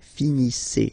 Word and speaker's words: finissez: Okay, EZ at the end gives you the sound E. Okay, finissez, finissez.